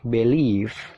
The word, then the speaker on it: belief: Yang pertama dibaca belief. Nah, di situ dibaca B lele B bief. Ada tanda petik. Nah, itu stressing atau penekanan. Jadi, penekanannya itu mengarah ke lif. Lif-nya ditekan ya.